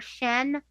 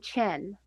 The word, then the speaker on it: Shen: I had Shen very wrong. I was pronouncing it more Shen than Chen.